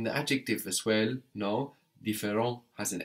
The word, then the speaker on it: différent: No, différent has an S on the end, but we don't hear it. T and S are one consonant syllable, no, and that's silent on the end there. So the singular and the plural sound the same.